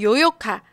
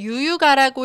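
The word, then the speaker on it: 悠遊卡: 네.이지 카드는 중국어로는 요욕카, 한국어 발음으로는 유유가라고 읽으시면 되는데요.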